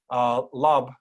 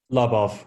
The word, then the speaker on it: Lubov: And we also have Alexander Lub. Am I pronouncing that correctly, Alexander? Lubov, close enough. Lubov.